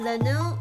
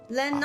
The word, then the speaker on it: Lennox: Leno? Is it Leno? Leno? Leno cool? I'm sure. Alright. Did I pronounce the X? I don't think so. Lennox.